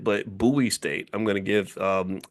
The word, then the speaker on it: Bowie: buoy is it I I called it Bowie State but somebody said it's buoy so I think that's tell me if I mispronounced it but buoy state I'm going to give